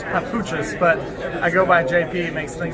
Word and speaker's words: Papuchis: The correct pronunciation is Papuchis, but I go by JP.